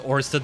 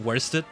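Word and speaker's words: Oersted: I think it's meant to be pronounced Orsted, by the way, not Worsted.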